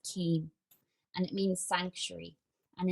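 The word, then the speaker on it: caim: welsh word and it's it's c-a-i-m pronounced keem and it means sanctuary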